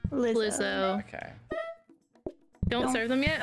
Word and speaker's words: Lizzo: was it lizzo yes how do you say is it lizzo or Liza lizzo okay don't serve them